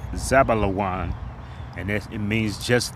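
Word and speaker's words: זְבוּלֻן: And in the Hebrew is pronounced Zabalawan.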